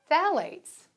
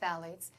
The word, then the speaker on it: phthalates: Phthalates. Have you ever heard of phthalates? pH is silent.